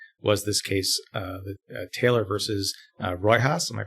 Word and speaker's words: Riojas: And one of the cases that you took was this case, Taylor versus Riojas. Am I pronouncing the second name? Riojas. Riojas.